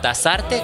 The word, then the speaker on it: Tazarte: Es con Z, Tasarte, con Z, pero bueno, tú sabes que yo no lo pronuncio.